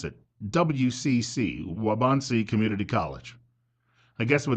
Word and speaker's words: Waubonsee: that area and it's called wabansi I believe is how they pronounce it WCC waubonsee Community College I guess